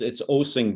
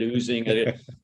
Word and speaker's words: Osing: I get Osing, I get Oozing, and I keep saying, well, treat this as a musical experience. It's Osing, just like Osing a song.